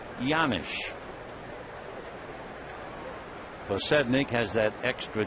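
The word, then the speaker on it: Janish: Scott pedik can explain why the J sounds like a why it's a checkles Slovakian name the 1-1 pitch fouled away one and two the name is spelled j a n i h but it comes out yanish pnik has that extra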